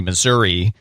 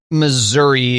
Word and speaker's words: Missouri: Well, yeah, the classic one is you go to the T-Mobile Center in Kansas City, Missouri.